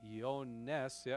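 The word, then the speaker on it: Ἰωάννης: Again, Ioannis is Ioannes, is how you pronounce that in the Greek.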